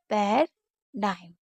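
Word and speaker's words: paradigm: शब्द के अंत में जी एम हो तो इसके जी का उच्चारण नहीं होता है, यानी कि कहीं पर भी लास्ट में जी एम होगा तो हम जी को नहीं पढ़ते हैं।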